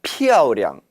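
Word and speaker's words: 漂亮: 피아오량. 피아오는 사성으로 여기에서는 발음이 돼야 되죠. 량은 경성 처리해야 합니다.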